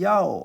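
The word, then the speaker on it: 药: 약을 중국 사람들이 야오 하고 발음합니다.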